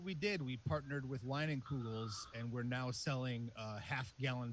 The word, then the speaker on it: Leinenkugel's: It's a Leinenkugel's beer. Yeah, absolutely. I think you pronounced that correctly.